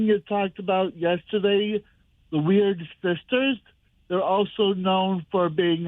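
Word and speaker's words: Wyrd Sisters: I had to check the pronunciation of Weird Sisters because it is spelled weirdly, W-Y-R-D.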